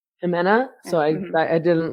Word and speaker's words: Ximena: I don't know how to say her name, Ximena Lopez, I think it's Jimena. Jimena.